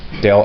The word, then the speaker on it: del: Scott basically it's called Dale adhere so to pronounce it properly Cadell f so del f is defined as the vectors which consists